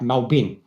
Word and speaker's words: Melbourne: it Melbourne Melbourne Melbourne people from Australia it's like melbour it sounds like melbin you know like so